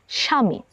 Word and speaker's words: স্বামী: সঙ্গে ব যুক্ত রয়েছে শব্দের শুরুতেই ব যুক্ত থাকার কারণে আমরা ব এর উচ্চারণটি করিনি এবং আমরা এই শব্দটিকে উচ্চারণ করি স্বামী চলুন আরো কিছু উদাহরণ